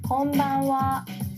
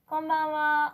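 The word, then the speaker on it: こんばんは: This ha is a particle wa. And konban means tonight in Japanese. And we still use konban. So let's practice. Konbanwa.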